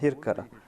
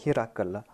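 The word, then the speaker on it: هرقل: On avait posé cette question, à savoir que j'ai prononcé Eriaklus dans la langue ourdou comme Hirkal, alors qu'en arabe, on prononce cela comme Hirakal.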